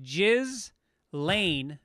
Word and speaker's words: Ghislaine: right next story jesus jesus maxwell pronounced jizz lane maxwell reportedly thinks epstein